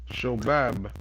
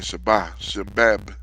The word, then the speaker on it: Shobab: and Sheba, Sheb, Shobab. Shobab. I'm missing that last B. I was saying Shebab, Bab, B-A-B, and Nathan and Solomon,